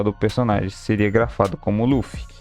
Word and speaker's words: Luffy: A adaptação para o nome do protagonista ficou como Ruffy, com a sonoridade de R sendo pronunciado quase como E.